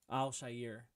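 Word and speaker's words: Al-Shaair: shisir right that's how you say his name Al Shyer um and there was a huge brawl that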